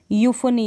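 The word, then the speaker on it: euphony: ई यू को कैसे पढ़ेंगे, तो ई यू का जो उच्चारण है वो यू होगा, यू प्रोनाउंस करेंगे इसको। जैसे कि कुछ स्पेलिंग्स है, यहाँ पर ई यू है स्टार्टिंग में, इनमें यूफोनी, इसको आप पढ़ रहे हैं यूफोनी।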